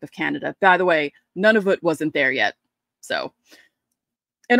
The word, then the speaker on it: Nunavut: And for some reason, Nunavut doesn't like, it's Nunavut. That's how you say it.